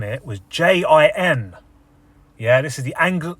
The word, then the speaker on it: djinn: n i e but actually the correct spelling the correct translation from Arabic to English is d g i NN Jin spelled with a d g i yeah